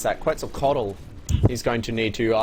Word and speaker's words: Quetzalcoatl: How are you meant to pronounce that? Quetzalcoatl.